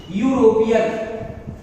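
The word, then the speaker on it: European: में आया करता है यूरोपियन। यूरोपियन की बात की जाए यूरोपियन, यूरोपियन का उच्चारण इस प्रकार से होता है यूरोपियन, यानी हिंदी के कंसोनेंट साउंड से आरंभ हो रहा है और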